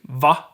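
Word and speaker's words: vad: just drop that so we have for instance vod which means what turns into va or vo nodee there we have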